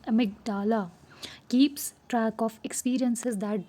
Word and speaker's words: amygdala: A tiny brain structure called the amygdala, pronounced amygdala, keeps track of experiences that trigger strong emotions.